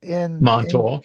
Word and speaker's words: Montauk: You talk about Montauk. I think that's how you pronounce it. Montauk, yes.